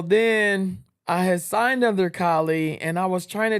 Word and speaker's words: Kali: But you pronounce it Kie. Yes. And I think I even said, "Oh, are you Callie?"